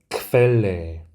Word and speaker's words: Quelle: 그래서 첫 번째 단어를 읽어보면 Quelle, Quelle 라고 읽게 됩니다. 그래서 크브로 생각하시면 됩니다.